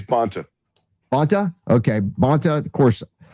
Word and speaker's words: Bonta: I think it's Bonta. Bonta? Okay. Bonta, of course, I don't really care if I mispronounce his name or not, but he's rushing